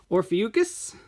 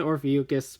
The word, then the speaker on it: Ophiuchus: And number 6, Naga Ahe Hebitsukai Silver, based on the constellation Ophiuchus, is how I'm going to say it, because that is what my little lookup thing told me when I asked how to pronounce it.